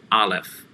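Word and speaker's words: אָלֶף: using for structure is aleph aleph and that's going to be the letter that is silent like the 16th letter of the hebrew alphabet ein they're both silent and can take multiple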